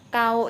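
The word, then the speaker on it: gao: Nah, kalau pakai G kayak kau ini ya, G AO bacanya baru kau biasa ya. Nah, bukan gau ya teman-teman ya.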